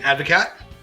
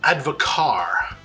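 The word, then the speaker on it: Advocaat: 2 ounces of our homemade Advocat. Oh, and there's another pronunciation one. I think it's meant to be Advocar, but I'm not gonna say that.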